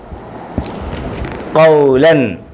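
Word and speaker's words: قولا: ലാം ലൻ ലാം ലൻ കൗലൻ കൗലൻ ഈ അലിഫ് ഉണ്ട് അലിഫിന് ഉച്ചാരണമില്ല ഈ അലിഫിനെ ഒന്നും പറയത്തില്ല വായിക്കത്തില്ല ഉച്ചരിക്കത്തില്ല ആ ഈ ഉ എന്നൊന്നും ഈ അലിഫിന് ഉച്ചാരണമില്ല വായിക്കത്തില്ല പറയത്തില്ല കൗലൻ കൗലൻ കൗലൻ കൗലൻ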